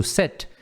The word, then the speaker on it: sit: Detalhe na pronúncia do sit é que é um i curto, né? Ele não é exatamente um i curto, ele é meio que uma mistura de i com e.